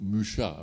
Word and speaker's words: Mucha: Mais ça n'étonnera pas ceux qui connaissent bien antérieurement l'art nouveau, Mucha, je prononce à la française, hein, et toutes ces femmes plantes et tout.